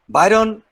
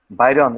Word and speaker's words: Byron: i i pranam i i pronounce byron you know baron who said i enjoyed